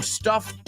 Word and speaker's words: stuffed: I'm stuffed up. Esa es más como una T.